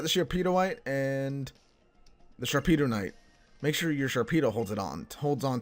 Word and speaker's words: Sharpedonite: how you get the Sharpedo white Sharpedo Knight Sharpedo KN I've been saying it wrong it's Sharpedo knight from Team Aqua if